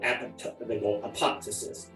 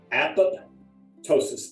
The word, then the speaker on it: apoptosis: They go apoptosis. But think of it as 2 words: apoptosis, apoptosis, apoptosis.